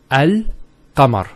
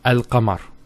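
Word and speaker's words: القمر: It's Al-Qamar. So Al-Qamar. So there's a sukoon there on top of the lam, and it's Al-Qamar.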